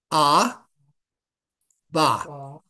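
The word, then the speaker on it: אבא: ba ABA that's father now you see the ALF the first letter which is silent has the do has the dot the a under it the second letter the bait has also an A and this alive at the end is a silent letter but it just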